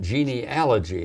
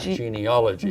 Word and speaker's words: genealogy: there's a genealogy yes now we're going to pronounce that right genealogy not geneology geneology geneology Club now